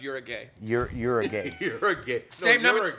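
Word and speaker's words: Uruguay: brown sugar what's first country that was uh uguay it's actually pronounced Ur a gay you're Ur a gay you're aay I was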